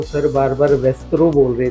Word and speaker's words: VASTRO: और मैं एक पॉइंट कहना चाहता हूँ, सर बार बार वेस्ट्रो बोल रहे थे, मेरी कंपनी का नाम है वेस्ट्रो। बहुत सारे लोग अब वस्त्रो लेके चलते हैं, तो वस्त्रो नहीं है, ये वेस्ट्रो है, वास्तु एस्ट्रो sciences training and research organisation.